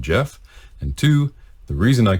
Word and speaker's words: Geoff: all we have confirmed Jeff is how to pronounce his name so I'm going to give that a shot Jeff okay I think I think I nailed that